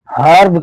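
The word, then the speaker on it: herb: एच ई आर बी ई के बाद आर है। तो इस वर्ड को हम हर्ब कहेंगे।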